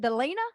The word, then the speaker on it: Delina: I want to meet, is it Delina? Is that how you pronounce it? That's how you say it.